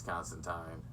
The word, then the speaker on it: Constantine: or actually tying stuff it's apparently it's constant time i've been saying it wrong forever but yeah uh we